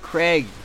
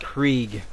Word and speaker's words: Krieg: Craig, or Krieg. I believe it's pronounced Krieg.